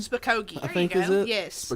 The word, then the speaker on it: Spokane: Spokane? Spokane.